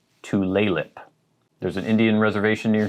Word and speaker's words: Tulalip: but it is tulip emphasis on the second syllable to laylip there's an indian reservation